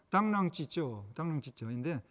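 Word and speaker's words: 螳螂拒轍: 장자의 삼목변에 나오는 당랑거철이라는 이야기입니다. 중국어 발음으로 당랑찌쩌인데 이 이야기는 자기 분수도 모르고 자기 죽을 줄 모른다는 거죠.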